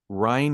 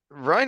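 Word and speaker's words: Ryne: Ryan uh whatever uh Ryan is how they pronounced it in the audiobook okay yeah he land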